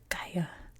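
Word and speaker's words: Gaya: empire known as the Gaia. That's another sound in Korean that G and K that are different in English but the same in Korea. So it's the Gaia Ga.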